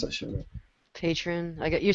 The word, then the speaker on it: Patreon: I can't even pronounce that shit. Patron.